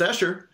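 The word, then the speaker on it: Esher: the comment section are like alright it's it's Asher so that was kind of it was not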